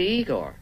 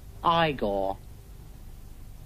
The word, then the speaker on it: Igor: You must be Igor. No, it's pronounced Igor. But they told me it was Igor.